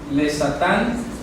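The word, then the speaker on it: לשטן: tenemos la expresión lesatán le satán lo me explico en hebreo dice así se pronuncia lesatán eso lo han traducido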